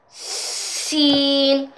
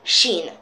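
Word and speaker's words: س: letter it's shin uh like scene you have to make the s sharp scene that's how you say it you don't say shin first of all when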